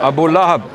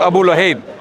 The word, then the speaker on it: Abu Lahab: Abu Lahab, not Abu Luhayb. Abu Jahl. No. He said Abu Jahl, you said Abu Lahab. I'm correcting your pronunciation of Abu Lahab. You said Abu Lahib.